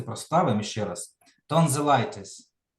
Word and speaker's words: tonsillitis: Tonsillitis. Tonsillitis. Значить, отут виходить, да, на І.